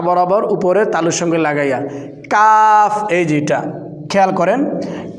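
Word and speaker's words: قاف: জিহ্বার গোড়া থেকে বাতাস বের হবে এই দেখেন কফ কাফ কাফ জিহ্বার আগা থেকে একটু আগে বাড়াইয়া তার বরাবর উপরে তালুর সঙ্গে লাগাইয়া কাফ এইযে এটা খেয়াল করেন কা নেক্সট লাম লাম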